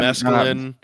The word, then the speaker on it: mescaline: Mescaline.